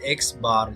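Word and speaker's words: x̄: So here where x is equal to the symbol we use for mean, और यहाँ पे pronounced as x bar, जिसको हम कहते हैं x bar.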